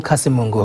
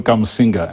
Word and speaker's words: Kamusinga: Friend School Kasimungu, hopefully I'm pronouncing it right, sir. No, Friend School Kamusinga. Kamusinga. That's right.